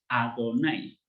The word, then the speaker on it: Adonai: Por ejemplo, Yod Hei Vav Hei lo vamos a pronunciar siempre como Adonai.